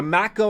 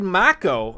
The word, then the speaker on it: Mako: final fantasy 7 remake i always thought the macko reactors were mako and then when they said mako i was like what the that's that's not how that's supposed to be pronounced i like wanna fight